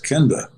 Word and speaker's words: Kenda: said you mean my name yeah i said kenda well kenda welcome to the greatest show on